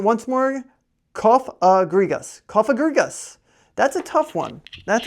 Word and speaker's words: Cofagrigus: ready for this all right cough a grigos cofagrigus CAG gas type ghost this Pokemon has a